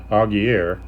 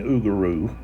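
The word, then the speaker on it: Augereau: and then uh uguru which I was pronouncing augier but it's okay from uh videos and so forth that I've watched uh I've been hearing oaro okay and let's see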